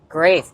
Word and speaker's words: Graeff: Okay, so Graeff, is that how you pronounce it? Graeff.